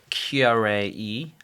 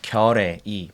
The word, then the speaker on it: Keyarae Yi: My name is Keyarae Yi. I know it's really hard to pronounce. I can, let you know my exactly name is, Keyarae Yi.